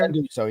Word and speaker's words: Genduso: Genduso, yeah.